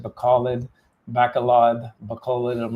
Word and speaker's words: Bacolod: But we're in Bacolod. That's as good as it gets that I've been told the correct pronunciation. Bacolod, not Bacolod, not Bacolod, Bacolod.